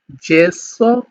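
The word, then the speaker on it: gesso: আমি এগুলো আরেকবার আপনাদেরকে উচ্চারণ করে দিই, সেটা হচ্ছে জেমেলি, জিরাফা, জেন্তে, জেসো, যুবত্ব, জাক্কা, giusto giornale।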